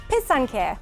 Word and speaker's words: pysanky: in time for Easter so how do you say it for some people it's a little hard to say it's from the Ukrainian where passata which means to write so it's piss on care or pisanka pisanka so